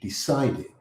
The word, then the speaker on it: decided: The stress in the word decided is in the middle. In the c i combination, decided.